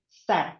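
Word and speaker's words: said: So say the right way to pronounce the past form of say is sad. So it's just like when we say sedih. Sad.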